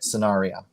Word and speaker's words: Sanaria: So I want to pronounce the name right. Sanaria. Sanaria. Right? Sanaria. Okay. Sanaria. Yes, correct.